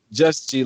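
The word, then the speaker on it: Juz G: Am I saying it right? Just G? Yes, Just G, like J. Just it's G. kind of okay. Just G, like J-U-Z. You know what I mean? Right. No T.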